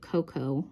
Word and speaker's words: cacao: the island of Tobago they do pronounce IT Coco not cacao um the the gentleman who ran this um particular tour said that either way is technically correct um but in their